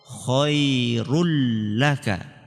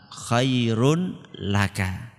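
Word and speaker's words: خَيْرٌ لَكَ: Idgham itu artinya dimasukkan. Apanya yang dimasukkan? Nun tanwinnya tadi dimasukkan ke huruf lam sehingga tanwinnya enggak kelihatan. Khairul laka. Enggak kelihatan kan? Bukan bacanya khairun laka.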